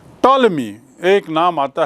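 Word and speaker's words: Ptolemy: हम भूमिका निभाती है ताल्मी एक नाम आता है सामने ताल्मी इसका अंग्रेजी में इसकी स्पेलिंग थोड़ी अलग है पी से शुरू होती है ग्रंथ लिखा और यह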